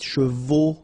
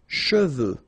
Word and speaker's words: cheveux: of a problem because some of the students normally pronounce it chevaux, okay? So try to keep in mind that you get E-U here. So it goes like okay, and then final X not pronounced, sorry, final X, should pronounce it the French way. Final X is not pronounced. So you get che, and then you get